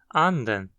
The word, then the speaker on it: anden: mínimo são as palavras anden, que significa pato, e anden, que significa espírito. Em anden, nota-se que a frequência cai da primeira para a segunda sílaba. Anden. Já em anden, ela segue alta. Anden.